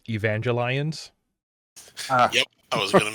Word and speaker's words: Evangelion: Evangelion from Evangelion uh I think you'll find that it's pronounced Evangelion yep I was going